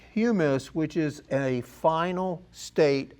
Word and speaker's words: humus: It doesn't ever well it does finish and when it's finished it's called humus. Now I made the mistake of calling it hummus and uh there's a big difference there.